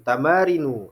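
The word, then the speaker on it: تمارين: Ya, ada latihan tamarin, ya, jamak daripada tamrin, tamarinu. Dibacanya seperti itu, tamarinu, mamnu minas sharf.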